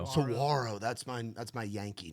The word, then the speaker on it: saguaro: Ground, Give Me Some Whiskey, Cry Cowboy Cry, Cigarro Sunrise. Is that how I say it right? Saguaro.